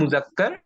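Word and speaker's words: مذكر: তো এটার vice versa আছে, যে এই যে মুজাক্কার, এই শব্দটার উচ্চারণ হচ্ছে মুজাক্কার, আর এই শব্দটার উচ্চারণ হচ্ছে মুআন্নাস।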